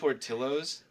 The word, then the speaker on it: Portillo's: shake also of course this is Portillo's is that how you say it yeah okay I read like a text in and I thought it was Portillo's wait where's the set